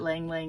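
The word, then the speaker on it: ylang-ylang: like um Lang Lang I know everybody wants to correct me but I really do believe that Lang Lang is the correct pronunciation and I'm I'm not going to be easily convinced that it isn't um Jasmine Rose Narcissus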